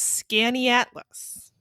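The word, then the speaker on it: Skaneateles: an oh yeah yeah the way that Amy says it's pronounced is scanny atlas that's what we said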